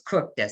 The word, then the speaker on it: Kukta: And I made sure that I knew how to pronounce his name because it's spelled Kukta, but it's Kukta.